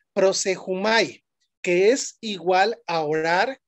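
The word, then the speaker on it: προσεύχομαι: su original griego y y se dice así prosumay así se escribe pero se pronuncia prosejumay que es igual a orar suplicar rogar pero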